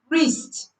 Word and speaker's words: wrist: Silent W is silent before R at the beginning of a word. W is silent before R at the beginning of a word. For example, wrist, right, wrong, wrap. Wrist, right, wrong, wrap.